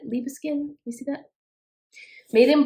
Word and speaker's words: Liebeskind: 14.99 for it and i believe it's liba skin is how you say it leave a skin you see that made